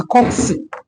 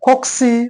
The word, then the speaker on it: cocci: Some people can pronounce it as cocci. You can call it a cocci or a coxy or a coccus.